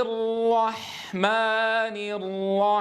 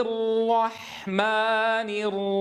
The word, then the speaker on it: الرحمن: والأصل أن تخرج الحاء مرققة. مرققة. مرققة. كما تدربنا وتعلمنا. إذن الحاء لابد أن تخرج مرققة. را حا. رح. انظروا كيف ينزل الصوت من التفخيم ثم إلى الترقيق. رح. را حا. ولا أقول رح. رح. فيصير الصوت بـ يصير بذات السوية.